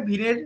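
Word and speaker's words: Wien: এখানে ডব আইএন অর্থাৎ ভিন উচ্চারণটা ভিন হচ্ছে। তো ভিনের একটা সূত্র রয়েছে ডিসপ্লেসমেন্ট ল যেটাকে বাংলাতে স্মরণ সূত্র বলা হয়।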